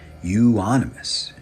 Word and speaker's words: euonymus: update on my propagation of the canadale gold euonymus how do you like that I said it